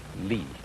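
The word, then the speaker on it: 理: wood or the fiber in muscle and it's pronounced lee this is a character then meaning really the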